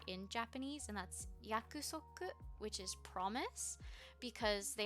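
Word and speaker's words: 約束: in japanese and that's yakuzoku which is promise because they actually share that word with korean and in korean it's pronounced yaksok and i heard it that way first so whenever it comes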